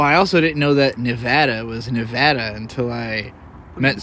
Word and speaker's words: Nevada: Boise Boys well I also didn't know that Nevada was Nevada until I met someone from Nevada